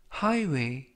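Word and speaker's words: highway: 표현이 되겠습니다 이번 표현은 하이웨이 하이웨이 하이웨이 라고 발음 하시면 되겠고요 이 때 유의하실 점은 쥐 h 는 이번 단어에서 묵음 이라서 발음이 되지 않습니다 품사는 명사 뜻은 고속도로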